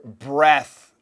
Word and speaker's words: breath: 괜찮지만 빨리 말할 때 what's with breath 여기도 th 바람 꼭 신경 쓰세요. breath breath 아니고 breath what with your breath god이 냄새 왜 그래?